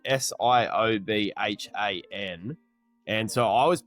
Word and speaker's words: Siobhan: has a lady in it and her name is spelled S I O B H A N. And so I was pronouncing it phonetically, Saban.